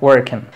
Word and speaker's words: working: Para eso, cuando tú veas fonética, y si ves que una palabra lleva aquí el apóstrofo, como en estos casos, ya sabrás que va acentuado en la primera sílaba. Father, silence and working.